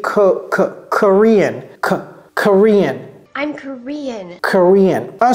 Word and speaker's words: Korean: Et ça se prononce quoi? Korean. Et vous voyez, j'ai pas dit Korean. J'ai dit Korean.